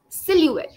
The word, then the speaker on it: silhouette: is Sil ette is ET in between it's silhouette the O here is Sil silou oh yes